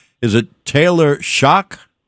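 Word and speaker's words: Shough: How do you pronounce the name? Is it Taylor Shock? Tyler Shock.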